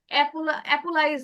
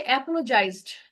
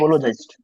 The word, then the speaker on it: apologized: অ্যাপোলাইজ এরকম উচ্চারণ করছেন, উচ্চারণটা হচ্ছে, আমি বলে দিচ্ছি ভালো করে খেয়াল করেন, উচ্চারণটা হচ্ছে অ্যাপোলোজাইজড, অ্যাপোলোজাইজড। Apologized.